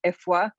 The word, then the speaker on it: Afua: akan ethnic group and my actual name is ifwa but even i don't pronounce it perfectly because i don't speak